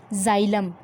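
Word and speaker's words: xylem: पहला है जाइलम, इसको आप लोग जाइलम नाम लेंगे, एक्स जो है जाइलम, ठीक है, प्रोनाउंसिएशन ठीक करिएगा, जाइलम।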